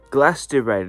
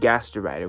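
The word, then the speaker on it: Glastrier: a promo card and ooh we got a glast de rider that's how it say his name almost said gaster Rider which would have been probably a better name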